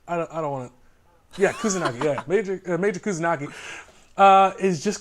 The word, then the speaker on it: Kusanagi: And in this production, the lead character of Major Kusanagi, am I pronouncing that right? I don't want to. Yeah, Kusanagi.